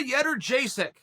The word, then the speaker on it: Jędrzejczyk: Joanna Jędrzejczyk. How do you like that for pronunciation, huh?